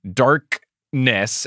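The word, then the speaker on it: Dark'ness: whole story is Ebony darkness and yes I did pronounce that with the apostrophe in between dark and Ness Darkness Dementia Raven Way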